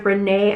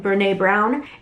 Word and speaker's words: Brené Brown: And I've heard a lot of things about this author, Brené, I think is how you say her name, Brené Brown.